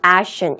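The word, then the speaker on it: Acheson: Dean Ashton, Dean Ashton 이라고 읽으시면 됩니다.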